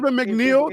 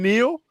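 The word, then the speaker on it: Neal: for man bro dein mcneel the Scout that I gave Devin mcneel has scored their their first two touchdowns it's Devin Neil not M Neil if you gonna say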